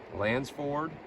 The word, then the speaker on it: Lansford: here all right folks there's lancer canal lands for look at that i'm saying it wrong lansford canal state park it's pretty cool